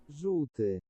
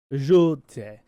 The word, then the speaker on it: żółty: It's really hard for it's notorious for English people not to be able to pronounce. It's this word. Żółty. Żółty.